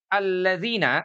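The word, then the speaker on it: الذين: Karena dia cukup dibaca dengan harokat fathah. Nah, dibacanya a.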